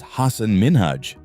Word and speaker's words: Hasan Minhaj: Next up is Hasan Minhaj.